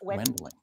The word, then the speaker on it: Wendling: name is spelled Wendling. Correct. Don't go saying Wendling. It's Wendling.